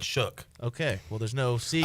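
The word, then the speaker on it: Shough: Shao. I don't know how to say his name. I heard him say his name today, and he said Shook.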